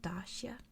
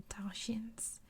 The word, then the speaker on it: Dacia: in the region, and it's another place that is pronounced differently. I've heard so many different ways, so I'm going to go with Dacia, or the Dacians. I've heard Dacia, but I like Dacia better. I'm going to go with that.